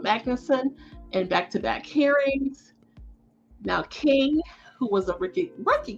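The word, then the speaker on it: Kueng: so i did confirm the pronunciation is j alexander king and tal tao they were convicted on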